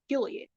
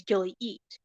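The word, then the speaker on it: Gilyeat: throws people off so it's Gilead it's not spelled the way how you think it's spelled it's Gilead g-i-l-y-e-a-t the way how some people pronounce my last name is Gilly eat I'm like that's not it but you can pretty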